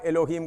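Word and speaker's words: Elohim: सब तो फिर अभी यहोवा का बताता यहोवा एलोहिम का पूरा अर्थ जेहोवा का मतलब सेल्फ एक्सिस्ट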